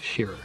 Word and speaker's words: Scherer: were the comic Shearer yes here Valerie I'm doing great am I saying your name right it's from its rhymes with mirror you told me nice